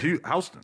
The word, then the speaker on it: Houston: It's Houston Street. It's Yeah, spelled like Houston, Houston. but you call it Houston.